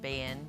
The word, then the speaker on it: been: always said I've bin, been.